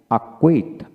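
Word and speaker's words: acquit: তারপর আসেন শব্দের মধ্যে কিউ আর পূর্বে সি থাকলে সি এর উচ্চারণ হয় না, তবে এদের শব্দের সংখ্যা কিন্তু কম। যেমন এস সি কিউ ইউ আই টি, আকুইট, আকুইট, এখানে সি কিউতে কিউ উচ্চারিত হবে, আকুইট, আকোয়ার, আকোয়ার, acquainted, acquainted, টিট, টিডি, টিট।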